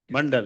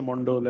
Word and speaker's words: Mandal: So you pronounce it as Mandal? Mandal, arey wah. Because in Bengali also we say Mondol and all that.